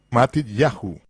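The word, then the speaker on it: Matityahu: En hebreo los nombres tales como Mateo, que en realidad es Mat Yahu, con el acento en ya, como es el caso en todos los nombres hebreos, no es Isaías, es Yesahu.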